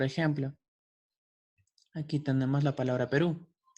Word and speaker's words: Perú: la palabra Perú y notamos que la sílaba ru es la que tiene es la que tiene la tilde sobre su vocal u Entonces esto Qué nos indica que al momento de pronunciarla tenemos que enfatizar la sílaba ru quedando así Perú ahora pasamos a un